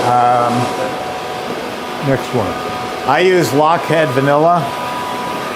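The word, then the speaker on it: Lochhead: what i use um next one i use lockhead vanilla it's spelled l-o-c-h-h-e-a-d there's a lot of vanillas on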